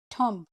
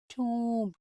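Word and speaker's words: tomb: This is नॉट थम, इट्स नॉट थम, इट इज टूम। तो हम इसको कैसे लिखेंगे? टूम, टूम, बी साइलेंट है।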